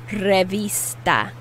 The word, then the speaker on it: revista: say magazine in spanish revista notice i'm putting more emphasis on the i which is pronounced e in spanish how do you say